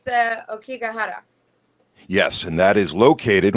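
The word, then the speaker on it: Aokigahara: But Lily, your pronunciation is much better than mine. It's the Okigahara.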